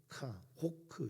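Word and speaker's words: חֹק: 이 율례는 호크 이렇게 발음을 하는데, 새기다라고 하는 성문법에서 온 법입니다.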